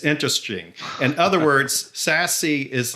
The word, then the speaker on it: SASE: in short order that that acronym is pronounced sassy and i think this